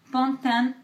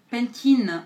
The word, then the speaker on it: Pantene: Le premier est à Pantene, je sais pas comment vous prononcez. Pour moi c'est Pantene en français, c'est Pantene en anglais.